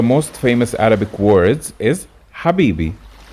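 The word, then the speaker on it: حبيبي: famous arabic words is habibi habibi starts with ha habibi means my lover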